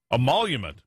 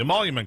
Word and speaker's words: emolument: be in trouble though from a monument the emolument clause oh I'm saying that right Byron welcome to the program yes you are saying it right Steve and I'm glad